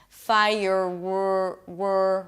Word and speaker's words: fireworks: So you round your lips for a W 'fai-y'r'-w-w-w right, now make sure that when you get to that W, now I'm telling you this as a friend, you should bring the tip of the tongue down 'fai-y'r'-w-w-w', right So the W should be pretty clear if you lift the tongue up if you keep it up because of R it's gonna sound hollow and weird.